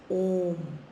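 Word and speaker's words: ओम्: But it is a single syllable. Aara meaning single syllable and it is pronounced as Om.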